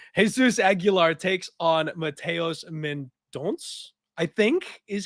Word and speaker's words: Mendonça: Jesus Aguilar takes on Mateus Mendonça, I think is how you end up pronouncing that. Even though it's spelled I think it's Mendonça.